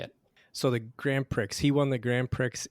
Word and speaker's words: Grand Prix: Fritz de Quervain win the Grand Prix in Paris, and how did he win it? Well, so it's pronounced Grand Prix. Mm-hmm. So I just want to correct you on that.